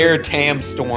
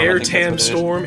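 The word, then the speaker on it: Aire Tam Storm: Emerald Weapon has an attack called, I don't even know how to pronounce it. I think it's Air Tam Storm. Air Tam Storm, A-I-R-E space, T-A-M space Storm.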